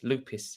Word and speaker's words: lopis: just have sweden's best lopes lupus is how you say it lupus just have sweden's best loop lopis question mark you don't